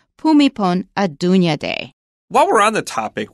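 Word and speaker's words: Bhumibol Adulyadej: I found out that it is more like pumipon a Dunya day while we're on the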